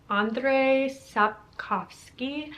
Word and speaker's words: Andrzej Sapkowski: Number 22 on this list is The Last Wish by Andrzej Sapkowski.